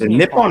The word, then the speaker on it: Nippon: i mean japan is nippon or nikon i forgot how it's pronounced it's nippon it's nippon to the japanese and it's japan to everybody else that's personally reasonable